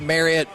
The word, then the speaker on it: Marriott: We are live at the Dallas Card Show, 777 Waters Creek Boulevard at the Marriott in Allen.